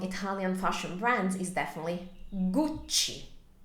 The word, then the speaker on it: Gucci: definitely Gucci guci so keep in mind that when you have a uh C followed by e or I in Italian it's a soft sound like in the word church also this is a double C so we have two C's so you need to elongate a little bit so it sounds